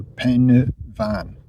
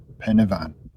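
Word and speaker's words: Pen y Fan: call it it's not the Y on its own is a sound so it's Pena and then f is a v so pen van Pena van the hill next to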